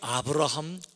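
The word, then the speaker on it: Abraham: 아시는 미국 대통령 중에서 에이브러햄 링컨이 있어요 아 에이브러햄 링컨 그러니까 에이브러햄 아 에이브러햄 은 미국식 발음 이에요 사실은 앞으로 함 이에요 그래서 글자 그들을 금은 요 아브라함 링컨 이에요 그리고 링컨은 이름이 아니에요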